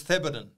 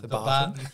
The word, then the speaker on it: Theberton: Number one is Theberton. Or as our interstate investors call it, the Barton.